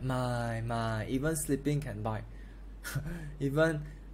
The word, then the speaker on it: 卖: My. Sell is going down, fourth tone. My. So the fourth tone you have to pronounce louder. It's more powerful. It's a falling tone.